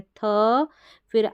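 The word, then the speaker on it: thief: तो यहाँ पर है थ उच्चारण, क्या है? ये वाला थ उच्चारण है, थ। फिर आई ई को पढ़ा ई, और एफ का उच्चारण फ है, तो बन गया थ ई फ थीफ।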